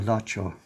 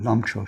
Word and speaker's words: Lamcho: So this is Lama Lacho, or Lamcho, depending how you pronounce his name.